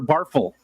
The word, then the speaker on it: barffle: Coral Work says, is the title pronounced like souffle or shuffle, snarffle or barffle? So it's just the word snarf or barf, but it's snarffle or barffle. Souffle would be, so snarffle, barffle.